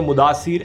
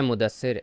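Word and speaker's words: Mudassir: 24 जनवरी 2019 के intelligence input में बताया गया था कि कुछ आतंकियों ने मुदासिर अहमद खान को रिपोर्ट। अरे मुदस्सिर यार, इसकी प्रोनाउंसिएशन बहुत खराब है।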